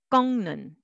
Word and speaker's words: 꺾는: And 꺾는, but together, 꺾는, 꺾는.